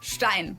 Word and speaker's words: Stein: But either way, this word is pronounced stein.